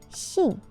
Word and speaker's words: 信: Chinese word for it the chance pronunciation of this word is she in ancient times this